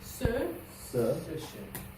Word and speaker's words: ce: Ce rhymes with le. Ce.